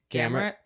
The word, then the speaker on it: Gamrot: How do you pronounce his name? Gamrot.